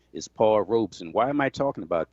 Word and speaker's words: Paul Robeson: the great paul robeson you notice i said paul robeson two syllables not paul robeson three syllables the correct pronunciation is paul robeson why am i talking